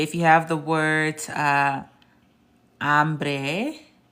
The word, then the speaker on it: hambre: So I want y'all to know something, that the H is silent. So why don't you just look at this H and then imagine it being crossed out. Look at this H and imagine it being crossed out. Look at this H and imagine it being crossed out. And then all you're pronouncing is the rest of the word. The H in Spanish is indeed silent.